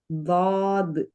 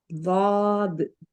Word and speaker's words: ضاد: ضاد இன்னொரு வாட்டி சொல்லுங்க. ضاد மாஷா அல்லாஹ். இப்போ இந்த வார்த்தையை உச்சரிங்க பாப்போம்.